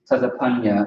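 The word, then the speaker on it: צפניה: Zephaniah is Tazapanya in Hebrew. That's how you pronounce it.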